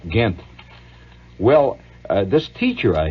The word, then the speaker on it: Ghent: the the treaty of ghent that's spelled with a gh gint well uh this teacher